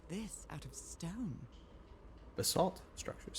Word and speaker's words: basalt: That's how you pronounce it, basalt.